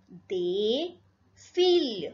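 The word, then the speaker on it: des filles: They feel. Again, this last S will not be pronounced.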